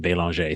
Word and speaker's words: Belanger: but yeah when i when i go to france or um or canada i actually pronounce my name beyonce so who knows maybe